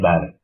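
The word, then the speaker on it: بل: Kenapa disebut bar? Karena ada tasjid di huruf berikutnya. Roh itu dia. Bar, jadi bacanya bar. Padahal dia katanya bal.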